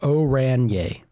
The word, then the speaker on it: Oranje: Autogain or oranje is pronounced oranye. Oranye.